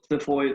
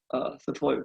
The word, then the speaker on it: xiphoid: Okay, the xiphos, so xiphoid or xiphoid process. Okay, xiphoid. Okay, either pronunciation is right.